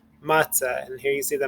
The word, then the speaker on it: matzah: word is matzah so you're going to emphasize the second syllable this is the break the first syllable is ma the second syllable it's ah because there's no there's no nikud here if there was a new code here then it would be three soul but it's a two-syllable word so matzah matzah and